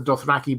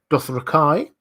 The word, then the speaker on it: Dothraki: you pronounce that so he talks not about the Dothraki but the doth Kai uh but he doesn't care the fact that the show says doth raki the fact that almost